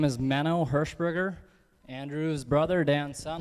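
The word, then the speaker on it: Manno: sir my name is mano herburger Andrew's brother Dan son like was mentioned and my name is spelled m NN o not m i n o w like some people like to say and it's a privilege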